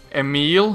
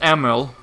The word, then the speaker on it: Emil: A lot of people pronounce it Emil, which is incorrect, because I do not have an E at the end of my name. It's pronounced Emil.